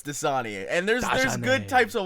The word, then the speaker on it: Dasani: I always Dajanay. pronounced it Dasani. No, it's Dasani.